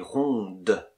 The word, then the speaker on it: ronde: Par exemple, elle est ronde, elle est ronde, elle est grande. Et on prononce la consonne finale.